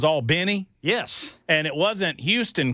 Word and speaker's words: Albany: uh and uh the it wasn't Albany it was Al Benny yes and it wasn't